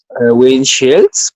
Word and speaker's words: windshield: En esta parte la pronunciación es con esa S, con esa H, es como la S de los gauchos, ¿no?